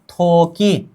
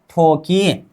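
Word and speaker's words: 토끼: अब इसका उच्चारण करते हैं, थ प्लस ओ, थो, ए हो गया क, ए हो गया ई, थोकी, क्या होगा थोकी, उच्चारण थोकी, क्या थोकी, खरगोश, थोकी का मतलब क्या होगा खरगोश।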